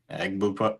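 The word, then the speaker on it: Egbuka: Embuka. Eggbuka.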